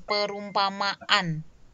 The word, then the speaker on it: perumpamaan: Kalau kita sebutkan kata perumpamaan. Perumpamaan gitu kan. Jadi seperti ada stop atau seperti ada jeda setelah kata setelah fonem ma.